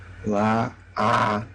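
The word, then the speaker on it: לעבוד: scratch that entirely, and we're going to go to the infinitive that looks and sounds like this. La-a-vod.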